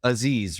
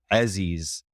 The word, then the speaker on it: Aziz: But the actual pronunciation in Arabic is Aziz. With that like Yeah, so it's like an but it has, well, I guess in the back of your throat is where that movement is.